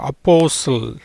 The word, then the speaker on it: apostle: எஸ் தனியாக வந்திருக்கு, டீக்கு உச்சரிப்பு கிடையாது.